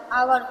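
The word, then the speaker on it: hour: रहा है तुम बोलो आवर आवर हो रहा है। हावर नहीं पढ़ते हैं। एस साइलेंट वर्ड है। साइलेंट है।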